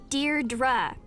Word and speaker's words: Deirdre: or something hi didi Deirdre I know it's got that tricky second syllable but I figured it out by age two don't give